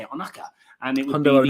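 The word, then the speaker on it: Ohnaka: Onaka.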